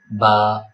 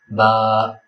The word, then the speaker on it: ب: The next letter is ba. First of all remember we should not pronounce it as b because it is in udu accent and in Arabic it is simply ba also don't stretch it